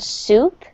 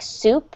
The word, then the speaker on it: soup: And just be careful when you're pronouncing the word soup that it really sounds like soup and not soap because those are two very different things.